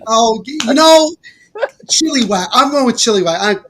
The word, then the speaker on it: Chilliwack: It's Chilliwack. Oh, Chilliwack.